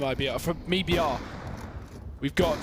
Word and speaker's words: MIBR: I fancy said Bryn in Brazil we pronounce it me BR but I don't know